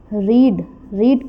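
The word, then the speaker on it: read: Second form होगी रीड, लेकिन इसका जो प्रोनाउंसिएशन है वो है रेड, and third form is also, लिखा ये सेम जाएगा लेकिन इसको रीड करेंगे हम रेड।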